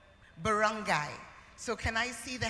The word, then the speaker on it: barangay: Can I get the pronunciation? Barangay.